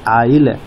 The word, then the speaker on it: isle: 46 देखिए ISLE, इसे हम उच्चारण कहते हैं आइल। बहुत से लोग इसे इसले पढ़ेंगे, इसले पढ़ेंगे, लेकिन इसका उच्चारण सही होता है आइल, आइल।